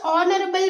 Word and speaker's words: honorable: H is silent and you have to consider ON.